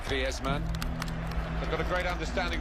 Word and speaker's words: Griezmann: He's very much a Spanish background. So he talks to his dog in Spanish and dreams in Spanish, so I think we can pronounce his name the Spanish way, Griezmann.